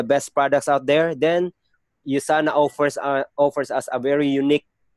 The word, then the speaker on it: USANA: Our company is called USANA. You have to mention, you have ulitin po lagi natin. By the way po, ang pag-pronounce niya po, sir, ma'am, it is U. It's not U, but U. USANA po.